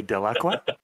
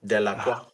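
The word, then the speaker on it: Delaque: sound like a snooty Frenchman when you say Delacroix. Because I pronounce it correctly, Delacroix.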